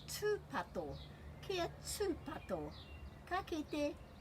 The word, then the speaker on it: tūpato: So the breaks are after every vowel, tūpato. And this t is different to this t. So this is tūpato, and that's because of the rule about the pronunciation of the letter T.